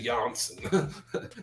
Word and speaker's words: Janssen: Janssen. The J is silent.